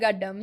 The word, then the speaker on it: Gaddam: Gaddam. Did I say it right? Yeah, yeah. Gaddam.